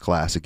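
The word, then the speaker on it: CLSC: uh Pasadena classic and that's C LSC pronounced classic you can find them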